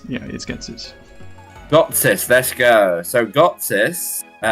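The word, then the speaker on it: Ghetsis: I don't really care how you pronounce it, but it's Getsis.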